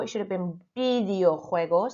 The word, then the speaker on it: videojuegos: Number 4, it should have been videojuegos. So your V, remember, sounds like a B.